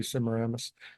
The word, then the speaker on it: Semiramis: I've heard different pronunciations. I say Semiramis.